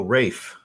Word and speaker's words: Raf: Raf, is that correct, monsieur? So Rafe. So I was saying it right. He spelled it Rayff to help me pronounce.